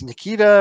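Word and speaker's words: Nikica: his first name Nika Nikita right but it's not spelled it's spelled in an unusual way and i n i k i c a Nikita yes okay because I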